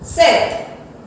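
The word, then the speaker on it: sept: 3 through up, 4 कैट, 5 सैंक, 6 सीस, 7 सेट। अब देखिए spelling में आया P यहाँ पे है हमारा साइलेंट, उसको हम नहीं बोलेंगे, वर्ड क्या हो गया, सेट।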